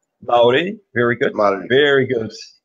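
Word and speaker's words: Māori: You're from Maori tribe, right? Did I pronounce that right? Maori, very good.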